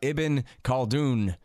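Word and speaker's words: Ibn Khaldun: go ahead first of all tell us about eben called oon is that you say his name that is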